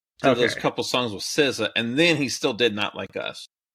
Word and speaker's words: SZA: SZA. I was expecting. That's how you pronounce that? Yeah. Okay. Like RZA and Jizza from the Wu-Tang.